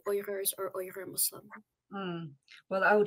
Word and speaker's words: Uyghur: joining your show so I believe the mainstream pronunciation so for example in a news program like this or any mainstream news program would be uighur or weaker Muslims but um the the correct pronunciation in the in their language is so it's in other words here at Justice for All Canada we actually say oyers or Muslim well I